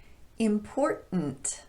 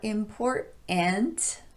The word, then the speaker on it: important: Important, not important, but important.